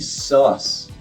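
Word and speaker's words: Suisse: I think sus is the correct pronunciation for that.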